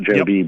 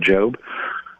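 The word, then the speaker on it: Jobe: Uh Josh Job, I think is how you say the name. Not JB, but Job.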